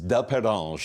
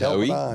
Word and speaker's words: Delpendange: And you have a French way of saying Delpendange. Yes, it's Delpendange is the correct pronunciation. Delpendange.